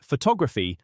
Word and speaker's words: photography: In the word photography, the stress is on the second syllable.